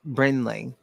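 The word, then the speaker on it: Brinley: Bley Reese Bley Bley you got to say it like brenley it's a pretty name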